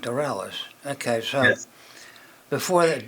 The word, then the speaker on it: Dorelus: let's see before that am I pronouncing your last name right d d dellis yes sir like a French sounding named dellis okay so before that